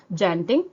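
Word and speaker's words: tjanting: सबसे पहला होता है जेंटिंग, टी साइलेंट है, जेंटिंग बोलते हैं या फिर टूलिस पेन बोलते हैं उसको, ठीक है।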